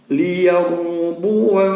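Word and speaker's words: ليربوا: Jadi cara bacanya adalah liyarbu fi, tidak boleh dipanjangin.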